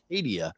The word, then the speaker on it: Acadia: Acadia.